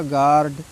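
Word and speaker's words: guard: यू हटा दीजिए, क्या बचेगा, गार्ड, ठीक है, ये हमेशा ध्यान रखेंगे।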